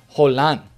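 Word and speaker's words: Haaland: chat telling me and informing me how to pronounce this guy's name it is hole on the yeah that's how you say it just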